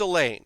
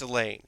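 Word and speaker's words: Elaina: It is pronounced Elaine, so I'm not gonna not say that it's Elaine.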